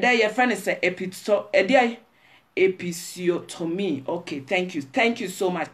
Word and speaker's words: episiotomy: Episiotomy. This German pronunciation and English episiotomy.